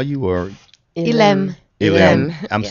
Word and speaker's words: Elim: So you're listening to Elam. Is that all you want us to call you, or Ilem.